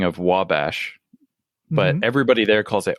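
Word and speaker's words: Ouabache: like my mom used to call it wabash because she was like a nerd about this kind of stuff but everybody was just like what are you talking about it's obachi state park oh it's spelled o-u-a-b-a-c-h-e or something like that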